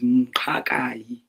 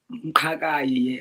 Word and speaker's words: Mqakayi: Yeah, so my surname is Mqakayi. Mqakayi. Mqakayi, yes. I don't never ask what it means, but it's always giving me that thing when I say it, It Mqakayi.